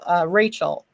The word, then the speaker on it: Rochelle: But Rochelle is Rachel. It's spelled Rochelle, but it's Rachel.